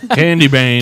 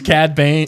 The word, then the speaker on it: Cad Bane: Candy Bane. Candy cane. Because there's Cad Bane or Cad close Bane.